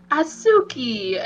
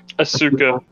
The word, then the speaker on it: Asuka: Asuki. Is that how you say her name? Asuka.